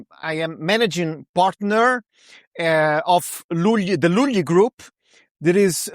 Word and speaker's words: Lugli: So, it's Luly, but it's because it's Italian, you know, I'm I'm Italian and I'm talking to